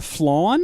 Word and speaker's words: flan: It's pronounced flawn?